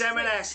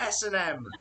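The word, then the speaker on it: M&S: oh it's marxist yeah it's it's it's m s not s m it's not s m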